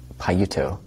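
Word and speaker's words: Payutto: the author that starts with a p again paiuto p-a-y-u-t-t-o is how it's spelled in english and you can find if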